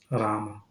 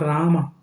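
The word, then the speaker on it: राम: Like We all know Rama. But what is the right pronunciation? Ram. It is not Rama.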